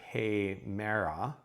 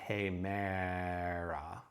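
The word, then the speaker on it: ἡμέρα: Okay, here the long hey, that's an eta, short meh, and then the alpha here sounds to us like an English long vowel. It's actually a short vowel, but hemera, ah.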